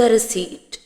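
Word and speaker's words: receipt: Please give me द रिसीट। Please give me द रिसीट। रिसीट दे दें। रसीद में P silent है। पी की आवाज नहीं आएगी। पी को हम प्रोनाउंस नहीं करेंगे।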